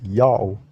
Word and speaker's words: Ya'oh: So now that we already have these evidences that his name is pronounced Yao, how it is read Yao according to the ancient Hebrew phonetics.